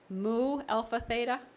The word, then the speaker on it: Mu Alpha Theta: and I had to ask her how to pronounce us it's Mu Alpha Theta ok which is a nationally recognized math organization